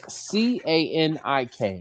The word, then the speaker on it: Canik: of the firearm is CANIK, right? And in English, we pronounce CANIK as Canik, okay? Well, in Turkey, they pronounce the C like a J, right? So they pronounce it as Janik, right?